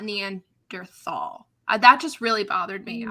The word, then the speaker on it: Neanderthal: This is not a discussion point, but I was really frustrated that the documentary mispronounced Neanderthal. A documentary would pronounce it Neanderthal, not Neanderthal.